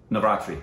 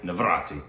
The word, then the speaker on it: Navratri: say it for me again, so I don't mispronounce it. Navratri. Navratri.